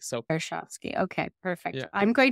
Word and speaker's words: Karshovski: Like, people expect there to be like a silent letter in there or anything like that, but it's what it reads like. So Karshovsky.